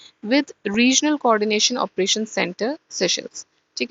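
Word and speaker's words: Seychelles: सब लोग इसको अलग अलग प्रोनाउंस करते हैं, आई डोंट नो, मुझे यही अच्छा लगता है, सो आई प्रोनाउंस सेशल्स।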